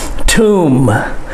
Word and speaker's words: tomb: tomb okay it's not tomb the b is silent and the o has the u sound tomb tomb the statue of